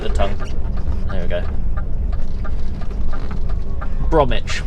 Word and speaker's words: Bromwich: Bromwich, but of course it's spelt Bromwich. But you know, English places.